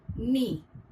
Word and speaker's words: knee: For example, K, which remains silent in the word knee.